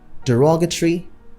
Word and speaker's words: derogatory: Most people say advertisement or advertisement. Some people say derogatory and others say decorum. So these are wrong stress. The proper stress patterns are advertisement, derogatory, decorum.